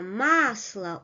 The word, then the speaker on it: масло: So, сумка, масло, овощ. The first syllable is stressed.